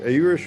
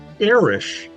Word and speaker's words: Erish: My my greatgrandfather was Hungarian and the I think the guy at Ellis Island saw the Hungarian name and pronounced it Irish.